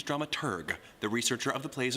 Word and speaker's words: dramaturg: The correct pronunciation is dramaturg, the researcher of the plays and operas being put on.